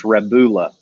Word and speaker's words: Rebula: a u sound it's a u sound it's rebula yovan i got him to pronounce it for me i was like i